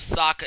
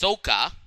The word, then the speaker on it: Sokka: Instead of Sokka, it's Soka.